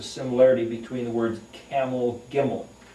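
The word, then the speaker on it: גימל: That's in the position of the C, but it's actually a G sound, where we get the word camel. In Hebrew is a gimel.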